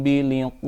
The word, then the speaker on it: بلقاء: Di Al-Quran lain walaupun ada iya-nya tidak boleh dipanjangkan, biliqa'i rabbihim itu tidak boleh, tetapi harus tetap dibaca pendek. Bal hum biliqa'i rabbihim kafirun.